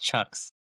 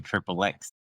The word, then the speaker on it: CHXXX: It's pronounced Chucks. Chucks. Yeah, that's right. Okay. Aka Triple X.